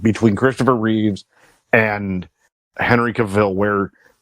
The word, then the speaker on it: Cavill: being that Henry cable uh I I said cable Cavill excuse me uh Ben Affleck is back other